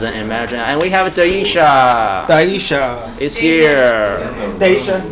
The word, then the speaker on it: Daisha: Someone has an imagination, and we have Daisha. Daisha. Is here. Daisha. like Vu, yeah.